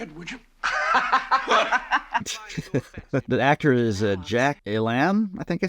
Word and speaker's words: Elam: head would you the actor is Jack Elam I think I say he say his name